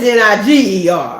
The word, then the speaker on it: niger: You know, they're not gonna spell it that way, but it is Niger.